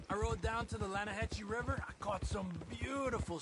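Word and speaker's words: Lannahechee: rode down to the Lana Hetchy River I caught some beautiful steelhead trout the Lana no no the Lana hacci it runs right near here yeah but it's pronounced Lana Hass why is everything in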